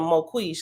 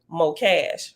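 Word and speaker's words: Mokash: favorite prey so remember at first I was calling the moquish because I didn't know how to pronounce his name but we found out in the footnote that you pronounce his name Mo cash right he's a businessman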